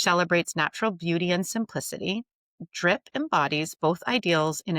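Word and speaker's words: Dryp: I'm thrilled to introduce her next endeavor, Drip. That's spelled D R Y P.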